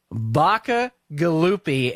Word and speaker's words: Bacigalupi: get her on Debbie Baca gallupi and you you can see that that is pronounced exactly the way it's spelled she's an ambassador at